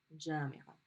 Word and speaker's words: جامعة: So if you have university of something, which is a possessive phrase, you're going to pronounce that dot مربوطة. جامعة.